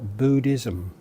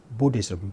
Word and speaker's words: Buddhism: mispronounced as Buddha or Buddhism. Here we've got a case of the short U being mispronounced as a long U. So it's actually not Buddha, nor is it Buddhism, it's Buddhism.